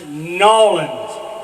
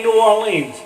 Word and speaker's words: New Orleans: you go to New Orleans you have this pronounced nollans don't say New Orleans say no it's wrong the weather's nice